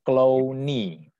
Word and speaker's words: Clouwny: C-L-O-U-W-N-Y ya, bacanya Clowny.